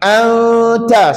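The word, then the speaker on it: أَنْتَ: Cara bacaannya sama macam satu kalimah juga. Sebabal apa? Hukumnya sama iaitu ikhfa hakiki. Cuba ikut ustaz tadi. Anta sebut anta.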